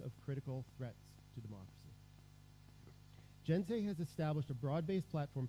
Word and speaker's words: GNSEI: USAID is supporting this global community through its membership in the Global Network for Securing Electoral Integrity, GNSEI, pronounced, so you'll hear this, GENSEI, which launched last week to a global audience online.